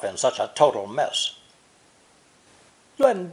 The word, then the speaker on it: 乱: It's pronounced 4th tone, 乱, 乱.